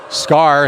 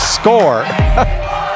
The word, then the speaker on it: Score: I specifically went down and asked her what her name was and how you pronounced it. She said it's Score.